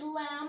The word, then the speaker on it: lamb: that rhyme with teapot the third word is lamb of course that B is silent this is from mary